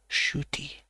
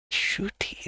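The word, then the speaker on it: Ncuti: Oh wait, Nakuti is pronounced Shooty. What? Shooty, okay.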